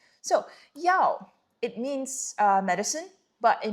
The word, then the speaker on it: 药: Pronunciation is like this, fourth tone. So 药, it means medicine, but it means like the one that we take, the pills, the thing to cure ourselves.